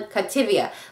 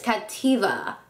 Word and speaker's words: Cattiva: review on Captiva Cosmetics okay I pronounced their name wrong at the makeup show I was calling captivia but it's Captiva Cosmetics so let's get that right um I